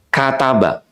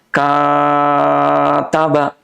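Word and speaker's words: كَتَبَ: Misalnya gini, kataba. Pendek semua tuh. Tapi coba perhatikan, ada yang bacanya gini, kataba. Kenapa kayaknya jadi panjang?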